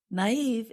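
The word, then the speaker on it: naïve: can be easily tricked naive is spelled n a i v e and we put two little dots above the letter i to show that we pronounce that vowel separately and gullible is spelled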